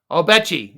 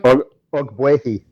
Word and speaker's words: Ogbuehi: your first question is about a guy that I can't pronounce. Cedric Obechi. Is that how you pronounce it? Anyone? Ogbuehi.